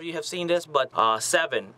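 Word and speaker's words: Se7en: Next up, I also like to recommend, I don't know if a lot of you have seen this, but Seven, that's spelled S-E-7-E-N, because, you know, whatever.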